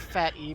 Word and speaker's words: PhatE: e doesn't react quickly I always want to call him fate but he's told me his name is fat e that e is capitalized for a reason darn it so say it right ready shuriken get in